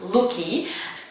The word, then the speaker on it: Lookie: So it's pronounced Lookie. To be honest, it's really simple actually. Most people here in Belgium tend to give their birds of prey a Native American name, like Ayla, Loki, not Lookie, but Loki, Mestli, Sumki.